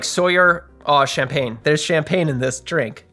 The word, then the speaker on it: Champagne: how to pronounce champagne in French. Champagne.